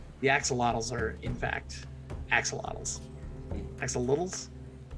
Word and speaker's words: axolotl: The axolotls are, in fact, axolotls. Axolotls? I don't know how to pronounce that word.